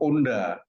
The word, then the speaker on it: Honda: ya kita Ucapkan Ha jadi kalau ada tulisan Honda ya kita baca Honda sementara kalau orang Prancis tulisan Honda dia bacanya Ona hanya enggak dibunyikan Nah jadi antara lambang